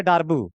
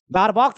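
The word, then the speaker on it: Darboux: बड़ा मतलब चीप सा प्रोनाउंसिएशन लगता है। डारबू बट है तो है उसका नाम। ठीक है? अब है तो है डारबॉक्स अच्छा लगता है बट वो इंडियन एक्सेंट में है।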